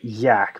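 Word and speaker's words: Jak: It's Yak because it's spelled Jack, but it's Yak. He's Swedish.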